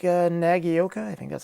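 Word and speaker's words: Nagaoka: better than this to begin with like uh nagioka i think that's how you pronounce it the mp110 i probably would have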